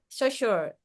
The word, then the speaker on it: Saussure: How would you pronounce, ma'am? So and yeah, Saussure.